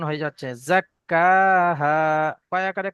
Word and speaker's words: زكاها: কফ উচ্চারণ হয়ে যাচ্ছে, জাক্কাহা। কয় আকারে কা যেমন হয় ওই রকম উচ্চারণ হবে। قد أفلح من قد أفلح من زكاها قد أفلح من জাক্কা زكاها কাফটা একটু টানতে হবে, জাক্কাহা।